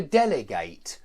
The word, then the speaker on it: delegate: stress or an adjective the stress always goes on the anti-penultimate syllable and that means not